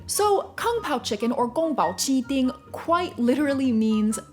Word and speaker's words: 宫保: so we're starting off this list strong with kung pao chicken kang pao chicken or gong bao chi thing is a spicy stir-fried chinese dish